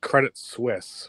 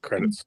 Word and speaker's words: Credit Suisse: the company sorry to correct you but it's credit Swiss not credits yeah Chris because I'm sorry yeah UBS credits Credit Suisse thank you thank you for your Insight everyone